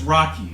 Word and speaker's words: Rocchi: Good evening, and it's true, my name is Rocchi. It's spelled R-O-C-C-H-I, but it's pronounced like Rocky.